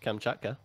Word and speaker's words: Kamchatka: Or if you take Kamchatka.